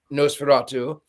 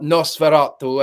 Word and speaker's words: Nosferatu: Also, what I find fascinating is that the director in an interview said that before filming Nosferatu, or Nosferatu, as it is, someone corrected my pronunciation, he actually watched Dracula Dead and loving it.